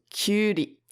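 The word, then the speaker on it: きゅうり: You have a ki, hiragana, and a little u, which make Q, so kyuri.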